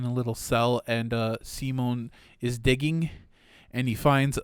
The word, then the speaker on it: Simon: said the names yet the little boy's name simone by the way it's kind of like simon but no it's pronounced simone no don't get any